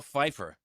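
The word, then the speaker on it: Pfeiffer: Who created the silent letter? Yeah. I don't How about Michelle Feifer? Yeah, I have no problem with that one. Yeah, I have no problem with it either. I'm just saying. I'm just talking. I HAVE A PROBLEM WITH THE P.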